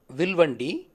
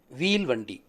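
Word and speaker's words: வில்வண்டி: But over a period of time, the word Vilvandi lost its original meaning as it was mispronounced as Veelvandi and was understood cart with chakra, as the word wheel was mistaken for chakra. Vilvandi, Veelvandi.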